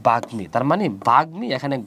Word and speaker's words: বাগ্মী: শব্দের মাঝখানে, বাগ্মী শব্দের মাঝখানে কি আছে?